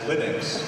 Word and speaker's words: Linux: category how do you pronounce Linux well I pronounce Linux as Linux however however the total answer to that is